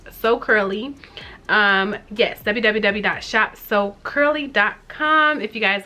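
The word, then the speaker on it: Soul Curly: My business is So Curly, but it's spelled S-O-U-L, like soul, but it's So Curly.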